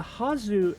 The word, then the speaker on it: はず: So we know that when the ha hiragana is used within a noun or as part of a kanji, it's always pronounced ha and not wah because it's not a particle.